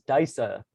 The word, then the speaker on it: Disa: sort of orchid software it listed as daisa for the pronunciation and i haven't gotten a clear answer we were kind of chatting about it when i first signed on trying to figure it out but i'll be using diesel throughout this talk and